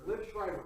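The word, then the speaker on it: Liev Schreiber: Live, how do you pronounce his name? Liv Schreiber? Liv Schreiber.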